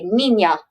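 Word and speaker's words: Niña: That just means when you say it, instead of saying Nina, you say Nina. Just how we like to pronounce it.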